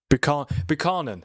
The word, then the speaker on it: Buchanan: Buchanan? Or Buchanan? Buchanan.